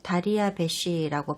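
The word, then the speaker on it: דריוש: 문제의 단어는 바로 히브리어로는 다리아베쉬라고 발음하는 다리오입니다.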